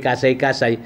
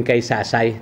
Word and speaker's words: Kaysasay: By the way, Kasay-Kasay, yan ay ibundi yan, hindi lang ma-pronounce ng mga Espanyol, kaya naging Kaysasay, naging Our Lady of Kaysasay.